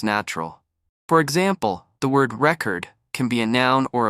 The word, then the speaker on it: record: When it's a noun, the stress is on the first syllable, record. But when it's a verb, the stress shifts to the second syllable.